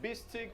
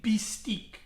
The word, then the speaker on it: Beastyqt: But, so Russians always call me Beastyqt. Not Beastyqt, not Beasty, Beastyqt. That's how they pronounced it, okay?